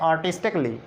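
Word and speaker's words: artistically: अब देखें इसमें ए साइलेंट है कहाँ पे, ये ए साइलेंट है, ए साइलेंट है, ए साइलेंट है, ए साइलेंट है, ए साइलेंट है। कैसे पढ़ते हैं इसको? हम पढ़ते हैं आर्टिस्टिकली, इसको हम पढ़ते हैं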